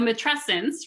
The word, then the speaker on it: matrescence: example of that so matrescence rhymes with adolescence right and if we